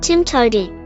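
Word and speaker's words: TMTOWTDI: there's more than one way to do it pronounced Tim toi Pearl has objects but it is more of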